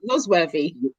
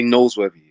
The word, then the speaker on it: Nasworthy: don't pronounce that right noz worthy you did yeah because a lot of people like to say noseworthy it's not nose there's no e that's noise good good good um